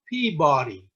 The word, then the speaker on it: Peabody: Peabody Massachusetts now note that I pronounced that Peabody and it's spelled PE a B ody no one for Massachusetts would ever pronounce that Peabody isn't that right Don that is right it's